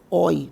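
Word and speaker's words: Euler: então esse cara ele o nome dele é um nome alemão tá especialmente não era alemão mas aqui da suíça mas da suíça da parte alemã e a pronúncia é oi tá que dá para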